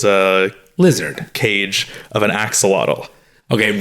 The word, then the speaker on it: axolotl: later, there was a lizard cage of an axolotl. Okay, right, wait, let's stop that. No one knows what an axolotl is. But that's why it's even cooler. Wait, am I correct? No one knows what an axolotl is?